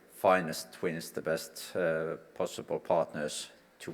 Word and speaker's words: FinEst twins: were pronouncing this word is it finished twins finest twin spots I personally believe it's definitely finest twins the best possible partners